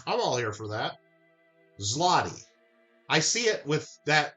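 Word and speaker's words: złoty: It's pronounced Zerlotti. Zerlotti. Okay. But let me ask you a question then. If you're going to help us out and educate, we're all here. I'm all here for that. Zlotti, I see it with that Z L.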